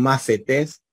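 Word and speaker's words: μαθητής: macetex es un macetex un macetés es un discípulo suena así lo van a transliterar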